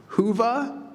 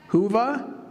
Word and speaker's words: Whova: Furthermore, we are excited to invite you to make the most of our conference mobile app, and the pronunciation may be lost here. Whova, is that correct? Whova?